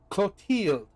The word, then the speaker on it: Clotilde: Clothilde? Clothilde. Clothilde. Clothilde. Clothilde. Clothilde. Pronunciation. Clotilde.